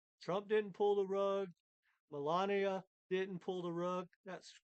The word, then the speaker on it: Melania: all sniped period Trump didn't pull the rug Melania didn't pull the rug that's correct pron pronunciation U the Insiders the guys that created